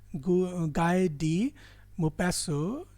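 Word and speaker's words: Guy de Maupassant: मी tell them कि don't follow the pronunciation according to the spelling in this word. इसको pronounce करते हैं गाय डी मो पैसो। टी इसमें साइलेंट है, एंड साइलेंट है, राइट?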